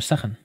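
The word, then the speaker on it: Zachern: Y entonces el mote, que lo voy a decir, bueno, lo vais a entender, es Zahan. Se escribe Thatcher. Z-A-C-H-E-R-N. Se pronuncia Zahan. Y entonces, allí se me conoce como Zahan.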